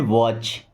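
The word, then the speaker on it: watch: आवाज़] okay he हैड वॉच देखिए यहां पे टी साइलेंट होता है वॉच वॉच का मतलब होता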